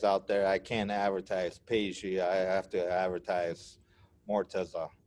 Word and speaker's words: Peji: What do you go by, Peji? I go by Peji. Okay, Peji. Okay. And just remember, the J is a French J, so it's has a pronunciation of sh.